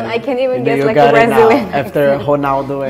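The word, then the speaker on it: Ronaldo: can't even get after honalo and honalo the names like mostly r r so when it is at the end it's more like an R something yeah in Turkey rialo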